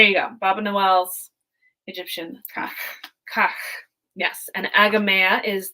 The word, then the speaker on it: Kahk: to her research was pronouncing this kind of like cake like kak kak but and further back in your throat right K so Andrew